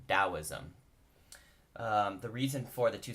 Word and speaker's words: Taoism: is also the same the T makes more of a soft T or D sound so often say Taoism the reason for the